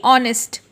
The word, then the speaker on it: honest: यहाँ पे, जैसे कि ऑनेस्ट। अब ऑनेस्ट का स्पेलिंग तो HONEST होता है, but then if we when we pronounce करते वक्त हम ऑनेस्ट बोलते हैं। ऑनेस्ट, ONEST। एच क्या होता है? साइलेंट।